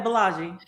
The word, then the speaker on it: Bolaji: Yeah, Bolaji.